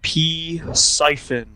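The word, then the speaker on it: Psiphon: It's called P Siphon, like water siphon. Okay. Like that's how it's spelled. P Siphon.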